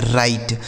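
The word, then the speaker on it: right: आई जी एच टी तो इसे हम क्या पढ़ते हैं दोस्तों? इसे पढ़ा जाता है राइट। क्या पढ़ा जाता है मेरे भाई? राइट पढ़ा जाता है। ठीक है? यानी इसका जो उच्चारण होता है वह राइट होता है।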